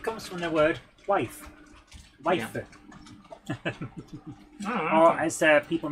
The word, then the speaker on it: waifu: But if you're copying a word from a foreign language into Japanese, the U on the end is usually unvoiced, so that they can pronounce the consonant.